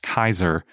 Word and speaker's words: Caesar: of these roots so caesar is typically thought to have been pronounced kaiser historically so that's just a weird thing that most people don't know linguists usually say that it was pronounced julius kaiser and not julius caesar